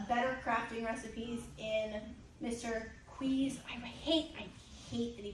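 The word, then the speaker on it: Qi: Queez, I hate that he pronounces it. I always say Key, but Mr. Dave said Quee.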